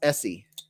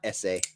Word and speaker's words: Etsy: stream great yeah it's it's pronounced Essie not essay I always say essay